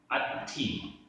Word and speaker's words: अत्थि: सिय, सिय, अत्थि, आधा ता था छोटी की मात्रा, अत्थि, नत्थि, नत्थि, उभयम, उभयम, अवत्तवम, अवत्तवम।